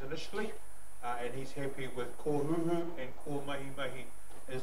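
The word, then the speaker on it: Kōhūhū: Kō Huhu. How do you spell it, I mean, sorry? K macron O, H macron U, H macron U. Kō Huhu.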